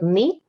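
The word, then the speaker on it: νι: to this one so this one is the knee and it has a sound of n for us this is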